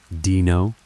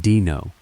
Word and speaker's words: Dino: He squinted at the paper and said, "You're hired Dino." He pronounced it dino. "It's actually Dino," I told him. like dinosaur.